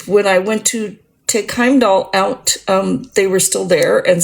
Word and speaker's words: Heimdall: The proper Norse pronunciation, Heimdall, with the little bit of a roll on the L and the R at the very end.